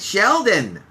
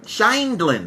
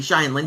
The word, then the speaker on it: Scheindlin: Judith Sheldon. Judith Scheindlin. Let me say her name correctly. Scheindlin.